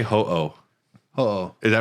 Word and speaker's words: Ho-Oh: How do you say Ho-Oh?